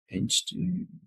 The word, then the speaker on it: Einstök: The first time I ever had any Einstök or however you pronounce it, Einstök Yeah.